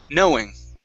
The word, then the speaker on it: knowing: Instead of knowing, it's know. Knowing. Okay, knowing. There you go. Yeah, nice and natural. Nice and, yeah, just an O sound, knowing.